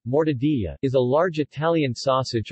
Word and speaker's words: Mortadella: Mortadella, Italian pronunciation, mortadilla, is a large Italian sausage or luncheon meat,